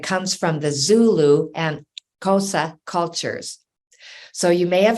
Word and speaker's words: Xhosa: And it comes from the Zulu and Xhosa cultures.